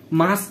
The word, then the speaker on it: মাস্ক: মাক্স ঠিক করে উচ্চারণ কর। লে ভাই তুই ক্লাস লে। আচ্ছা বল তো এটা কি? ডেস্কটপ, বক্স, ডেস্ক, ডেক্স, মাস্ক, মাক্স, মাস্ক বল, মাস্ক, মাক্স না মাস্ক, মাস্ক, মাক্স, মাস্ক, মাস্ক, মাক্স, হয়নি?